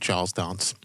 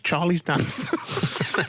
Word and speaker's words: Charles Dance: Really, when you say Charles Dance's name, you got to pronounce it Charles Dance. Charles Dance. Whereas I've called him randomly, and me know it's Charlie's Dance.